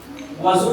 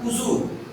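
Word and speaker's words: وضوء: वजू नहीं है प्रोनाउंसिएशन, उजू।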